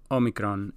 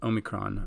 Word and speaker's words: Omicron: For the record, in Greek it's pronounced Omicron. In English you can pronounce it as Omicron.